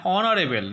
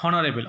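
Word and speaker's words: honourable: অ্যান অনারেবল নট হনারেবল, অনারেবল, A horse, a house, an honest man, A Honda, an hour.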